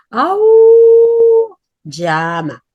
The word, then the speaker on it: auyama: Y yo la enseñé a pronunciarla, a decirlo, tú tienes que aullar como el lobo. Au, llama.